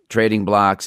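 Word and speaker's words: Trading Blox: Trading Blocks is one, and that's spelled BLOX.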